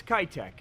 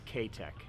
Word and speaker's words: K-Tech: So if you live in the United States, it's Kitech. But if you live in Japan and want to pronounce it correctly, it's K-Tech.